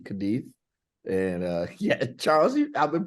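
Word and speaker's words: Cádiz: It's Cadiz with a we do not pronounce the Z, Cadiz.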